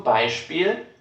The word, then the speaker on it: Beispiel: Vocês perceberam que nessa terceira palavra o SP está no meio da palavra e está sendo pronunciado da mesma forma, como um tipo de chiado.